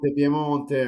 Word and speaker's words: Piemonte: pronunciation, Shafi? Piemonte, I'm Italian. Piemonte.